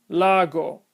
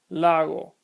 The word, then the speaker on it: lago: If I mispronounce these words with hard sounds, it would sound like nada, lago, sabe. But the correct pronunciation is nada, lago, sabe.